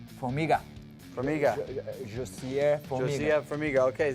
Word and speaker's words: Formiga: See right here, we have John Dodson taking on, how do you pronounce, Formiga. Formiga.